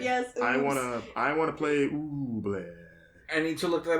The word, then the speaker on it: Ooblets: ooh, 'cause- Ooblet.